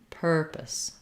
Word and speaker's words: purpose: the to this sound purpose purpose so the purpose of this meeting the purpose of the video lots of length on per very short on the second syllable um yeah that's a